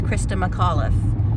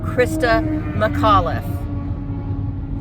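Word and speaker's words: Christa McAuliffe: mlli Christa mlli well this person heinously mispronounced her name in a way that if you knew how the English and this is an English-speaking person if you knew how the English language worked and you weren't a lazy sack you would have been able to properly pronounce that name just by sounding it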